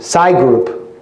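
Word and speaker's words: Psy-Group: connected to black cube SCI group it's spelled psy - group there's a new piece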